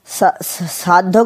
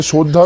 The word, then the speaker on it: শ্রদ্ধা: শিক্ষক শিক্ষিক শিক্ষিকাকে শিক্ষিকাকে সাধ্য করতে হয় কি উল্টোপাল্টা উচ্চারণ করছিস ওটা সাধ্য নয় ওটা দেখ লেখা আছে শ্রদ্ধা করতে হয় মা-বাবা শিক্ষক শিক্ষিকাকে শ্রদ্ধা